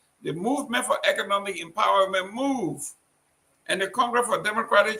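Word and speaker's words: MOVEE: Is that movie or move? M-O-V-E-E. That is a political party. How you pronounce it? Move.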